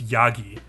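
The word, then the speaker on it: やぎ: means sheep in Japanese goat is like pronounced yogi however goat is also sometimes announced yama heats suji which basically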